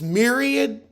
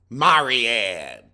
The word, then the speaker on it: myriad: in them but girl you can't pronounce myriad Marianne Hooked on Phonics can work for you too boo how was like what Myriad Myriad Myriad myriad and you went